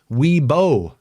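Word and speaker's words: Wibaux: From your neighbors in Y-Box is how it's spelled, but we pronounce it how? Webo. That's right. Webo, Montana.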